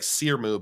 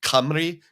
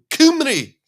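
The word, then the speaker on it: Cymru: Uh, Wales in Welsh, I believe it looks like Sieru, but I think it's pronounced Camry. Kumri, something like that.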